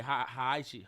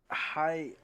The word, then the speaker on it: Heihachi: It's probably trying to say Haichi. Haichi. Oh, you got me saying it wrong. Say it again. It's Heihachi.